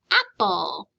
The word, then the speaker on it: apple: For example, in the word apple. Apple ends with an ul sound, but it's spelled LE.